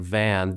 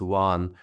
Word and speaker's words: Van: east here's Lake Juan it looks like Lake van vanan but it's pronounced Juan Lake Juan and right out here is Mount erat where